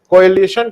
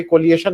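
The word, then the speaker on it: coalition: को सुधार देते हैं कोलिशन को आपने बताया की भाई कोलाइजन नहीं होता है बहुत-बहुत धन्यवाद अब मैं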